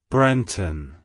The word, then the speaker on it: Brenton: It's pronounced as Brenton. Brenton. Brenton. To pronounce it correctly, emphasize the first syllable Brent and the second syllable un.